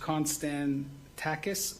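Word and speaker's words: Konstantakis: We'll pronounce it first. Constan Takis Law.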